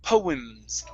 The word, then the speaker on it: poems: So go straight from the M to the S. Poems.